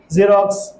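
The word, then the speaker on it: xerox: ওয়ার্ডের প্রথমে যদি x বসে, সেই ক্ষেত্রে আমরা যা সাউন্ড উচ্চারণ করব বা বাংলায় বর্গীয় যা সাউন্ড উচ্চারণ করব, যেমন জাইলোফোন, জেরক্স, জিনন এটসেট্রা।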